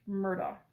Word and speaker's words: Murdaugh: Um, I would prefer to pronounce his name Alex Murdo because that's how his name is spelled. However, u from the trial it appears that his name is pronounced Alec Murdoch. Uh, sorry, Alec Murdoch.